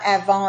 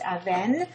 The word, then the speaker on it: Aven: A Aven is the river and it's not Avon. It's actually pronounced Aven.